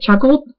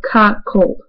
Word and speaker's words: cuckold: I made a video, I pronounced it chuckled. Apparently pronounced it wrong. So I got a message from somebody, a different person. So let's just get right into this. I'm sorry if I look awful right now. Okay. So So the first the first thing of course I want to be anonymous. Okay. Um so they told me how to pronounce it. Se is in like cup. So cup cold.